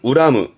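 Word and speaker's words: 恨む: 발음은 우라무, 우라무.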